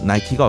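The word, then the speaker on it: Nike: 동물 이름이냐 그렇게 싸우다 승리의 여신인 니께 미국식 발음 나이키가 어떠냐고 제안이 들어왔습니다 고대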